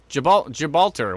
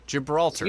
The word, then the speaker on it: Gibraltar: a storm near hugear Gilbert Gibraltar why am I saying goodbye oh it's jib Gibraltar Gibraltar that's what it is people are laughing I